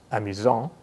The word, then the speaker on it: amusant: amusant this means that the masculine version is pronounced amusant with a silent T and the feminine version